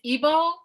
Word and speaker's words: Igbo: say that right yeah so it's it's it's evo i guess you could say that the g is kind of silent depending on how you say it well you know what